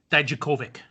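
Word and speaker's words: Dijakovic: and again uh because i've been challenged to pronounce his name correctly is dominick daijokovic you did pretty good there go and ask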